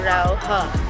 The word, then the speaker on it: Raohe: So if you come here, it's filled R A o H e. Pero dinig ko po pronunciation niya ay Raw H. Hindi Raw sabi nila.